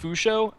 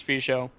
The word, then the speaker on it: Fisho Kid: Well, actually, it's pronounced Fusho after talking to him, but everyone says Fisho.